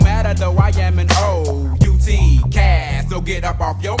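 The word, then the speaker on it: OutKast: Outcast, pronounced outcast.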